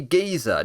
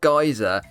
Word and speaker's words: geyser: a minute mr stixman it's meant to be giza not geyser well in fact guys